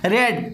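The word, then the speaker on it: read: तो देखो यहाँ भी रेड सेकेंड फॉर्म, यहाँ भी रेड थर्ड फॉर्म, और यही फर्स्ट फॉर्म है, लेकिन इसका प्रोनाउंसिएशन सेकेंड और थर्ड में क्या हो जाता है, रेड।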